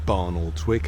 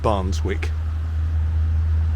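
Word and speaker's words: Barnoldswick: and barnals wick and i don't think it's pronounced barn or twick i think it's they pronounce it's like barnes wick in heading heading due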